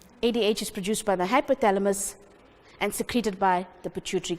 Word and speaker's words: hypothalamus: You must say it like how you're going to spell it. Hypo, how do we all spell hypo? H-Y-P-O. T-H-A. La, L-A. And mus, M-U-S.